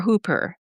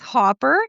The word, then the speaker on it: Hopper: And And is your last name Hopper or Hooper? It's Hopper. And my first name is pronounced.